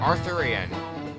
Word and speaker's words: Arthurian: Arthurian. That's just Arthur, but Ian at the end.